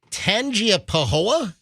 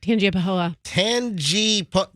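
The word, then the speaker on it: Tangipahoa: the local Parish Sheriff's Office tangia Pahoa the Tangi t-a-n-g-i-p-a-h-o-a I think you nailed it tanji Pahoa maybe the g is silent I have no idea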